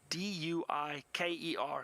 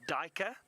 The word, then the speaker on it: duiker: name duiker, it's spelled D-U-I-K-E-R. Some people pronounce it duiker or duiker, and the duiker gets its name from a Dutch word or an Afrikaans word, and duiker means diver.